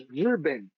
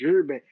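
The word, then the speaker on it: 日本: in Japan, which is Rben. It's the same kanji Nihon, but obviously the pronunciation is different in Chinese. Rben.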